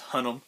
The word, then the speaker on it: Hunnam: I think his name's Hunnam.